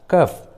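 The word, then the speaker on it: cough: जी एच रहते हैं, जब भी किसी इंग्लिश वर्ड्स के लास्ट में जी एच एक साथ रहते हैं तो जी एच का उच्चारण फ होता है, फ। जैसे रफ, कफ, टफ, इनफ, लॉफ, देखिए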